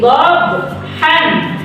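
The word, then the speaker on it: ضبحا: Ayat pertama, wal 'adiyati dhabhan. Kalau diberhentikan, maka kalian membacanya menjadi wal 'adiyati dhabha.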